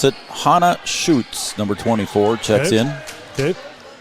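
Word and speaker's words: Schutz: to pronounce it Hana shoots number 24 checks in okay spelled s c Hu TZ I was told to pronounce it shoots how old how old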